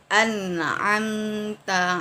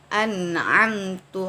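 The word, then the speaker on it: أنعمت: Atau contoh lain, an'amta alaihim, nikmat yang telah engkau berikan. Tetapi kalau kita membacanya an'amtu alaihim. Nah, di sini terdapat perbedaan atau perubahan ya. Yang satu an'amta, yang satu an'amtu.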